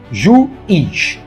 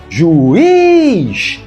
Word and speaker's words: Juiz: Juiz. Juiz. A palavra tem 2 sílabas e a mais forte é a última.